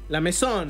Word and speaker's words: La Maison: ¿Cómo pronuncio esto, Pablo? La Maison. La Maison. Es francesada.